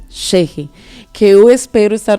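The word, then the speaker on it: Ch'ixi: E Cheche é C-H... Apóstrofo I, X, I. Essa é assim se escreve e se pronuncia Cheche.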